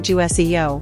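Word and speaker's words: 주세요: Watch your pronunciation, the ju sound. It's a clear ju sound like in juice. Don't soften the j too much or make it sound like chew.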